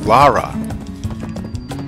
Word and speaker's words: Lara: It is not Lara Croft. And I don't know why people always pronounce it like that. It's Lara. And the thing is, the games have voice acting. She says it. Lara. Everybody in the game says it.